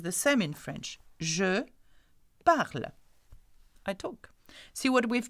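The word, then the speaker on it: parlent: Now remember that though it has ENT, we don't say parlante, okay, we say parle, okay.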